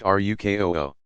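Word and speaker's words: ركوع: place hands on knees ruku pronounced ruk oho sitting on the heels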